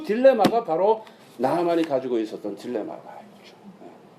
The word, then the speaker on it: 나만: 자, 그러면 나만은 어떻게 해야 되느냐? 어떻게 해야 되느냐? 그렇게 파워풀한 사람이 파워레스한 사람이 됐어요. 그래서 제가 이제 이 말씀을 옛날에 준비하면서 내린 결론이 그거예요. 나만, 영어식으로 발음은 네오만인데 뭐 어떻게 나만 was a powerful powerless man.